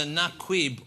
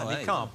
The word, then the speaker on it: niqab: But we also put, we think it's either naquib or nakid. It's something like that. It's like a naquib or something, isn't it? Niqab is how it's pronounced. That's the correct answer. Niqab.